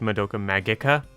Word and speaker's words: Madoka Magica: undercurrent of existential horror Madoka Magica technically that is pronounced Madoka Magica if you read the Katakana but that sounds dumb